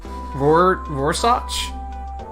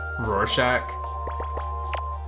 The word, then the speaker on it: Rorschach: the ink blot thing pronounce that vorsage that doesn't sound right for some reason but maybe I never had to say it out loud Rorschach that sounds more accurate oh or maybe I